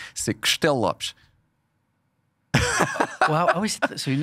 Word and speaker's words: Castello-Lopes: Alors, si tu veux vraiment le prononcer à la portugaise, parce que c'est un mot portugais, c'est Castellopes.